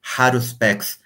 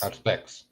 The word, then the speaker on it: Haruspex: Haruspex. Is that the name, Guilherme? Haruspex? Haruspex. Yeah. Haruspex is silent age, né?